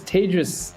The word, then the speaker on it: Tejas: people know who you are hey everybody it's Tejas uh pronounced sometimes like Paige is nice to nice